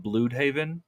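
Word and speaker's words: Blüdhaven: universe, they call it Bloodhaven, which is like a German way of saying it, I guess. Bloodhaven. The U with the umlaut, you know, the 2 little dots over it. Yeah, Bloodhaven.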